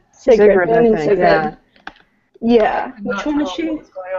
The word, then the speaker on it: Sigrid: Sigrid, Sigrid, Bane I and think. Sigrid.